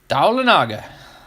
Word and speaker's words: Dahlonega: Dahlonega? Like Talladega? Dahlonega? Dahlonega. There you go.